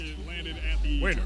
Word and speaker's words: Wainer: I actually have his name pronounced right here. Let me get some respect on that guy's name real fast. Wainer. Yeah, I said it right.